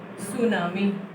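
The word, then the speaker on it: tsunami: Indian ocean में क्या आई थी आपकी, सुनामी। ठीक है, टी साइलेंट है, आपको पता होगा।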